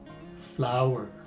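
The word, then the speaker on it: flour: flower in the garden are homophones and they rhyme with each other so this word is pronounced as flower the ninth word we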